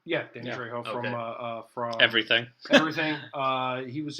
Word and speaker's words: Danny Trejo: I had Danny Trejo. That's how you pronounce his name, right? Yeah, Danny Trejo from Everything.